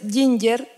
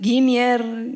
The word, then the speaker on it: Ginger: Hola, mi nombre es Ginger. Y lo han pronunciado de muchas maneras distintas en realidad. Lo dicen Ginier, Ginier, o como lo dijo José recién.